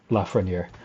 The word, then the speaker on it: Lafreniere: know from whom uh lafreniere is named but uh that's how you pronounce it la frontier um so yeah we